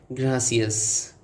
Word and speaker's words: gracias: Say it like gracias. Roll the R like it owes you money.